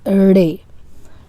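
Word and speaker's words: ڑ: Okay, this is the letter, and this is re. Re. It is somehow between R and D. So re. Re. The name of the letter is written like this, but it's basically not R at all. Re.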